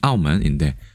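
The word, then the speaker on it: 澳门: 귀엽게 쓸 때는 발음은 아오먼인데 아오먼이 무슨 뜻일까요?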